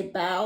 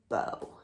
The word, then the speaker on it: bao: You say bow like take a bow, thank you, not like bow, like the kitty's bow.